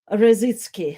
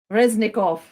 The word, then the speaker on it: Reznikov: by ministry of defense alexei razitski harassing sorry my pronunciation is reznikov yes alexis alexi reznikov and maybe let's uh